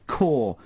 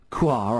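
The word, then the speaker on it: Kaur: the pronunciation of bubbly quoi i believe i pronounced it phonetically it's actually pronounced core he's texted again this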